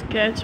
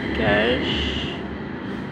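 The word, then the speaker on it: cache: number 9 इज कैच memory, कैच pronounce eight कैश, memory is placed between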